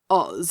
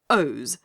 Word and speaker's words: Oz: own country he sneered it is not oz as you say it but ohs the zone of os to be more correct and if os is